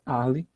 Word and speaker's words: Arles: França chamada Arli tá escreve arles a escrita arles mas a pronúncia ali Por que em francês multifabric francesa você não pronuncia A Última consoante então ali você tem